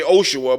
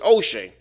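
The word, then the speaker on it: Hoshea: is not really Joshua his name is oshe or o they say oshaa but it's oshe they said it right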